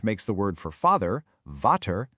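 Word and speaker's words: Vater: The V often gets the F sound, which makes the word for father, vter, sound like fetter.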